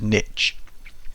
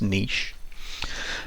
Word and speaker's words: niche: you see it you might think it says niche but it's pronounced niche so all of these different animals they might